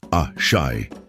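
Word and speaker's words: Àṣẹ: The fourth lesson introduces us to Ace, pronounced A-Shai, the divine life force that flows through all existence.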